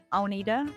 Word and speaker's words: Agnethe: My name is the Danish version of it is Agnethe. That might confuse you with the way it's spelled.